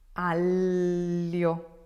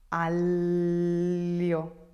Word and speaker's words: aglio: Aglio, aglio. Aglio. Can you feel where it's hitting? Right behind your teeth. The whole section here of the tongue is touching the palate, and you're saying aglio.